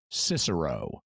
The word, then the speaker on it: Cicero: pronunciation and for example depending on depending on which pronunciation you're using you might have a given author named kicker oh euro or more familiarly Cicero now when I'm reading